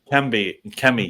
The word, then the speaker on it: Kemi: So I heard there was a lunch with I always mispronounce her name. Is it Kenley or Kemi Badenoch. Kemi?